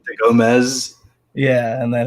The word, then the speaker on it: Gomes: to get in my name is actually gomez but it's spelled go so it's easier to say that without people who end up putting a z and it's uh gomez yeah and then it's